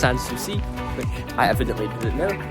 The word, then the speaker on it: Sanssouci: We're currently approaching Sankosi Palace. Just look at how magnificent this building is. What a beautiful sight over Sankosi Park.